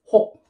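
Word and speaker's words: 혹: Hit and o will pronounce as ho. Ho. And when you put the consonant kyok, kyok, you pronounce as hok.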